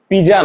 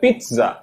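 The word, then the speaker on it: pizza: এটার যে প্রোনাউন্সিয়েশনটা পিজা না, এটার প্রোনাউন্সিয়েশন হবে পিৎজা, পিৎজা, পিৎজা।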